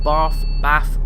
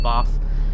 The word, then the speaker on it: Bath: Hence, listen to my pronunciation, Bath. It depends on where you come from in the country. I call it Bath. That's just, you know, how I pronounce it.